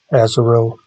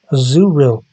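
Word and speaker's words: Azurill: way I I pronounce I pronounce this Pokemon as auro some people say aeril but in poke park it says a zuril great impression right and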